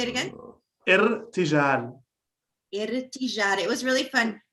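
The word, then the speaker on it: ارتجال: Irtijal. Can you say it again? Irtijal.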